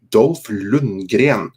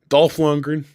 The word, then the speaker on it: Dolph Lundgren: I love how you say Dolph Lundgren. That's how the Swedes say it. Arnold Schwarzenegger. That's how the Austrians say it. And that's how I say it. Dolph Lundgren, Arnold Yeah.